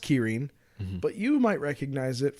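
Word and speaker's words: 麒麟: with this is the kyin now um it's pronounced Kirin but you might recognize it from the uh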